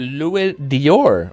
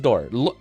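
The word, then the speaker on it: d'or: Dior is pronounced like door. Oh, thank God. Okay. Oh, okay. I can just say door. I've been trying to go L Dior. Okay. So, Louisis door ludor.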